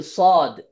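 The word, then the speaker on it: ص: 3 নম্বর সিফাত হচ্ছে ইস্তিআলা, মানে সদটা উচ্চারণ করার সময় মোটা করে উচ্চারণ করতে হবে।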